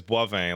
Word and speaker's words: Boivin: Like I have a name, like my last name is Boivin. Like there's no W in there. It's the B-O-I that Frenchifies into Bois.